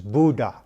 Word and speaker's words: Bode: I've received some comments in the past that said it should be pronounced Bode, a long O, a silent E.